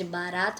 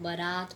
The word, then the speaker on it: बरात: वाली हूं मैं जब बारात में जाना वाला हूं जाने वाला हूं तो वह गलत करते हैं कि वह बारात नहीं होता व होता है बारात मतलब बरात बरात बारात नहीं होता